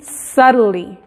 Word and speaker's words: subtly: ¿Por qué se pronuncia como R a T? Porque es la combinación de la T y la L. Subtly. En realidad suena como, le estás pronunciando T, pero al combinar estas dos consonantes rápido, tiene un sonido más como R.